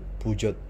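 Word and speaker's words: Peugeot: Okay, so dalam PSA ni, yang pertama sekali dah tentu pijot, pijot, pijot. Ada orang sebut pujot, ada orang sebut pujo, tapi saya sebut pijot lah, senang sikit, ikut ikut ikut dia punya ejaan, pijot.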